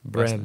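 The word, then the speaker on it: Brehm: Bram.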